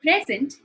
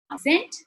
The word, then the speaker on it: present: Also note that present is a noun, present is a verb.